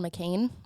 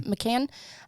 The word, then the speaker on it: McCann: the disappearance of madeline mccain i think is how you say it okay mccann um young girl family